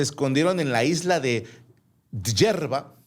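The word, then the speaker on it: Djerba: El caso es que los dos se escondieron en la isla de Hierba. Así se pronuncia, pero es con DJ JBA.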